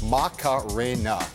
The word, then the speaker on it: Macarena: One word, four syllables, Macarena.